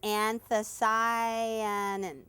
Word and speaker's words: anthocyanin: It's anthocyanin.